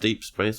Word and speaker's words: Deep0x20: Spelled Deep0x20, pronounced Deep Space, or however you'd prefer.